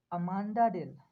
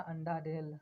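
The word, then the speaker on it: Amanda Dale: ये जो अभी बोल रहा था ना, अंडा डेल, अंडा डेल, अंडा डेल, अंडा ढाल सॉरी, अंडा ढाल, ठीक है। तो इसी को सही प्रोनाउंसिएट करके बोलता है अमेंडा डेल।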